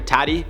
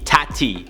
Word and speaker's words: Tati: I say it like Tati because last time I called her Toddy or Tatty, and you guys got mad, so I'm emphasizing the T. Tati.